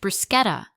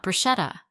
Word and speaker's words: bruschetta: Emma leaned in and said with a polite laugh, "It's pronounced bruschetta, not bruschetta.